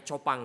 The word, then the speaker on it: Chopin: like Pio lu Tangsel mungkin yang ini bacanya copang Ya copang ya tulisannya Chopin ya dia menulis begini melalui